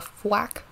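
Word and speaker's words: Fuack: his name is a flack at least that's what how I pronounce it it's f u a c k like quack but with an f and that is if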